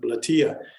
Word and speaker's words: Bletilla: Spanish, so I just want to call it bletilla. And I looked up the correct pronunciation, which is bletilla, and it doesn't roll off my tongue.